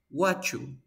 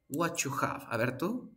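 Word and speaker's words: whatcha: una t y una y estos dos sonidos se van a juntar y van a crear el sonido 8 pero Esto suena you por lo tanto quedó la u solita sería Wow Wachu Wachu Ok recuerda remember speakers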